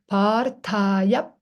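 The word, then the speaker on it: पार्थाय: So you pronounce Parthaya, and then you close the lips. Parthaya. Stay there half a second.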